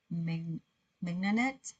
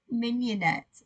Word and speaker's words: mignonette: Yeah, that can't be the correct pronunciation for that word. M-I-G N-O-N-E-T-T-E. Okay, well, it's giving me a whole lot of sauce pictures. Mignonette. What? Mignonette. Mignonette. Mignonette. Yep, mignonette.